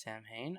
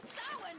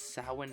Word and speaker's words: Samhain: For whatever reason, I thought Samhain is pronounced Samhain. I'm pretty sure they also pronounce it in show as Samhain. Check out the list of witches attending the Samhain Festival right here!